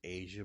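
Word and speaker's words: Aasia: It looks like it's would be pronounced Asia, but I'm pretty sure some people are going to tell me different. That it's not pronounced that way, but her spelling of Asia or Asia is A-A. It's A-A-S-I-A. Almost like Asia, but with two A's in the beginning.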